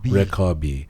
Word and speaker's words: Rekabi: Rekabi.